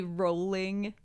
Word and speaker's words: Rowling: Oh, like J.K. Rowling is rolling.